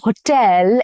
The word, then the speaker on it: hotel: We stayed at a 5-star hotel in Paris. Stress is on the second syllable again and not on the first one.